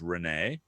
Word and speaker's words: Reneigh: Her name is Renee, and Ooh. she's a horse because her name is spelled Reneigh, and it just happens to be her birthday today.